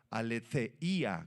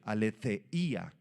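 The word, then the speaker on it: ἀλήθεια: libro es la verdad la palabra griega para verdad si quieres apuntarla es la palabra alía con th alía Y esa palabra describe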